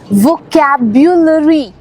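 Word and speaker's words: vocabulary: ज्यादातर लोग कहते हैं वोकैबुलरी। सही प्रोनाउंसिएशन है और आहिस्ता आहिस्ता बोलना है वोकैबुलरी। ओके, हर एक लेटर की साउंड है इसमें, वोकैबुलरी, वोकैबुलरी नहीं, वोकैबुलरी।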